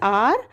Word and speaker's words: our: अवर नहीं कहेंगे इसको बिकॉज ओ जो है वो हमारा साइलेंट होता है बेटा, तो कहेंगे दिस इज आवर अम्ब्रेला।